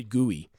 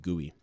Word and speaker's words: GUI: of exploring the end thief says gooey is an acceptable pronunciation yes thief is right